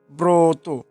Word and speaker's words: ব্রত: এরপরে ব্রত, যেমন ব্রত আমরা লেখার সময় এভাবে লিখি, তবে উচ্চারণের সময় ওকার উচ্চারণ করে ফেলি ব্রত।